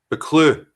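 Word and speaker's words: Buccleuch: million acres number two number two duke of buckley how do you how do you pronounce that booklet b you double c l e u c h a clue from the scott family all right that's because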